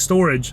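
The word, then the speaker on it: Storj: They're trying to build this decentralized storage uh based on the blockchain technology, right?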